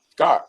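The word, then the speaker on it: Skjodt: name at indiana something simon somebody assembly hall scott right yeah it's um the scott hall it's uh pronounced with the j yeah yeah it's silence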